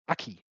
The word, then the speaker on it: Aki: The new name for Akihiro Sahara is spelled out Ki, but they pronounce it Aki, which of course is his nickname.